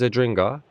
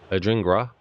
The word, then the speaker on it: Adingra: Here's Adringa. Adingrai Adingra. I'm putting the R in the wrong place when I say his name.